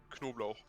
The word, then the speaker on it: Knoblauch: The funny thing is, actually, the first part of the word is spelled like knob. Hey. It's literally just knob and then you add lauch.